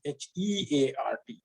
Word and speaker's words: heart: is hot okay so in english we pronounce heart as h-a-r-t but we write it as h-e-a-r-t so you have to